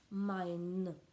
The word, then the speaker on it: mein: Quand on dit mon, ma, mes, en anglais on dit my, en allemand on dit mein. Ça ne s'écrit pas pareil, ça se prononce quasiment pareil.